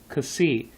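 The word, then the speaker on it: Xi: okay that's how you that's how you say it Cassi like KS Cassi and that's spelled out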